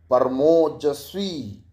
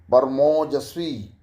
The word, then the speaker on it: परमौजस्वी: इसका उच्चारण इस तरह से हुआ, ओ नहीं, औ। औ। मेरे जो ओष्ठों का आकार बदल रहा है औ बोलते समय, उसको देखें कि ऐसे बोलते हैं, परमौजस्वी।